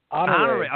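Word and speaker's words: Honoré: Honore.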